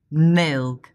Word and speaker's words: milk: For example, well, milk. 这个音的发音要点是舌尖抵上齿齿龈，舌头的中部下凹，舌头后部上抬。Look at my hand.